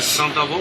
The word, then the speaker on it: Saint-Avold: Saint-Avold. What do you want? How would you pronounce it with an L? You don't pronounce the L.